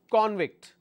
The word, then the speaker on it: convict: When the stress is on the first syllable, it means it's a noun. All right. Another example, convict.